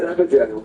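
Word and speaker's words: Evergaol: And if you fall for one in the Evergel, yeah, I know, I said it right, I said Evergel, holy crap.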